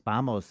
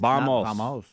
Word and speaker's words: vamos: this for us but you're wrong it's actually pronounced b b b coach it's it's bamos it's bamos bamos so then I got then I got Arrogant